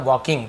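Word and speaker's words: walking: अपनी पत्नी को देखा वॉकिंग वॉकिंग नहीं पढ़ेंगे ल साइलेंट होता है वॉकिंग पढ़ेंगे सारे लेटर है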